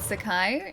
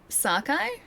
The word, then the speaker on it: Sakai: How would you pronounce Lord Sakai instead of Lord Sakai? Like Sakai like that like emphasis on the Sa part instead of the emphasis on the Kai part.